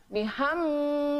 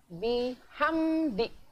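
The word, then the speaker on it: بِحَمْدِ: bacanya harus jelas Hai bihamdi tidak boleh dibaca bihung by jangan itu salah harus jelas bihamdih Hai Mas selanjutnya anak-anak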